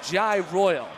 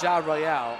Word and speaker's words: Jai Royal: It's Cicatelli, so pardon me for Joey Cicatelli, and it's Jai Royal, not Ja Royale.